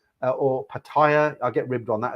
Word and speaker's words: Pattaya: If you're a single guy and you go to Pattaya or Pattaya, I get ribbed on that as well.